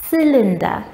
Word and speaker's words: cylinder: have a cylinder cylinder now we pronounce this as cylinder not calendar this is a cylinder